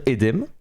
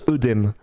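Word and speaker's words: œdème: qu'en fait en soit on devrait dire aidé m mais maintenant couramment au prononce oedème dans le langage courant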